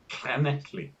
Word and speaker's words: Llanelli: That is pronounced Llanelli. Okay, that makes no sense at all. Indeed. But double L in Welsh is Llanelli.